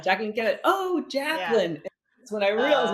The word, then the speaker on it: Jacqueline: is not super Spanish, even though I'm Puerto Rico, it's pronounced Jacqueline.